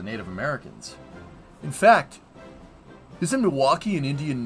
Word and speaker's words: Milwaukee: trade with a Native Americans in fact isn't Milwaukee an Indian name oh yes Pete it is actually it's pronounced milwake which is El gonin for the good land